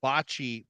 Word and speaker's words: bocce: Spelled B-O-C-C-E, which is how bocce ball is. Yeah, it's bocce. Bocce. All right. You never know. What planet's languages include bocce?